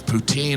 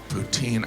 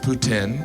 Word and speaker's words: poutine: smoothie it was delicious poutine I know some of you pronounce it Putin but you're still saying poo I love poutine and